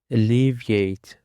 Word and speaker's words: alleviate: And now let's have another word which is alleviate. Alleviate. The stress is on the second syllable.